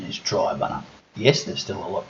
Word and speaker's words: Triabunna: believe even though in the video I use Tre buner that the correct pronunciation is Tri bunner yes there's still a lot to do around